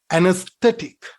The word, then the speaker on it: anesthetic: anesthetic say it again anesthetic anesthetic here this syllable is stressed and aesthetic when you